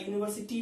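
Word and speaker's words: university: यूनिवर्सिटी में उच्चारण में देखिए यूनी, यूनी से शुरू होता है, बाकी लिख लीजिएगा यूनिवर्सिटी का।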